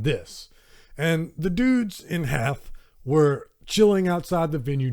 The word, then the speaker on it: Hath: When I read the letters, H-A-T-H, it looks like Hoth to me, but it's going to be Hath.